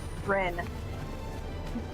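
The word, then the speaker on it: Ryne: Rin. Oh, Reen.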